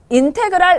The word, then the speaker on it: 인테그랄: 사실은 읽는 것은 이 S라고 읽는 게 아니고 배웠나요? 인테그랄이라고 읽어요. 영어로는 인테그랄이라고 얘기를 하는데 그럼 어떻게 읽냐? 인테그랄 fx dx라고 읽어주시면 돼요.